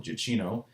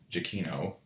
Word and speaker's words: Giacchino: And since it is, of course, composed by one of my favorite movie composers, Michael Giacchino, I think that is actually how you literally pronounce his name, I have to, of course, gush about the music.